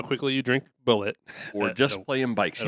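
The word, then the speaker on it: Bulleit: Is it Bullet or Bullet? It's Bullet.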